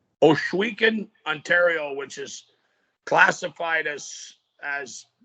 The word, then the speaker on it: Ohsweken: And you told me now, no, I want you to help me with this pronunciation because I like to learn. Oswegan? Ohsweken, Ontario, which is classified as Six Nations.